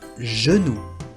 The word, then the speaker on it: genou: Ahora, si delante de una E, I o Y, se pronuncia como la doble L argentina. Lo que le llamo la doble L argentina es j, j. Yo me llamo. J. Por ejemplo, en francés, un genou, una rodilla, un genou, un genou.